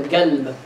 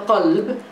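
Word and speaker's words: قلب: If you hear people like, for example, Habib Umar or Habib Ali Jifri speaking, you will find that they will talk about the galb. Not the qalb, but the galb.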